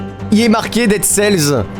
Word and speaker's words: Dead Cells: Il est marqué Dead Cells. Il y a un S, on le prononce.